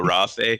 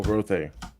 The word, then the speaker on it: Rothe: I'm going to yell, Callisto be praised, and then transform into a Rathe. Is that how you say it? The cow thing? Oh, the Roth. The Roth? Oh, Rothe. Yes, I want to be a cow now.